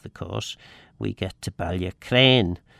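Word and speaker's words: Ballacraine: of the of the course we get to Balia Crane Balia Crane. Um so Balac Crane Balia Crane and yes I think I think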